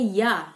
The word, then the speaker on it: ja: di sini juga bilangnya ya. Kalau bahasa Inggris kan yes ya, kalau di sini bilangnya ya, karena mereka J itu dibacanya Y, jadi mereka tulisnya ja, tapi bacanya ya ya, sama dengan kita, kita